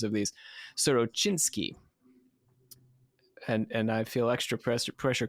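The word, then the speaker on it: Sorochyntsi: Again, thanks to Catastrophe for sending me the correct pronunciations of these. Sorochinsky. And I feel extra pressure because Catastrophe is currently listening to me try to pronounce these things. He was born in Sorochinsky in Mirhorod, in the Poltava province.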